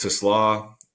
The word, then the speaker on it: TeSlaa: So to give a little more context, TeSlaa, that's how you say it, not the car way.